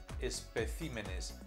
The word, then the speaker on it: especímenes: El plural de espécimen es especímenes. Cambia su acento en plural.